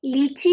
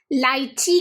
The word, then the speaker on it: lychee: हिंदी में, American English में इसे लीची कहते हैं और ब्रिटिश इंग्लिश में इसे लाइची कहते हैं। जी हाँ, लाइची।